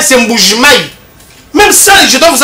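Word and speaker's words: Mbuji-Mayi: Quand nous on parle de Kichanga, c'est comme ça se prononce là-bas. Ça s'appelle pas Mbujimai, c'est Mbujimai.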